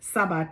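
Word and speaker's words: Tsaba: In addition to the Chebed or the Sabah, the host, Sabah, T-S-A-B-A, the T is silent.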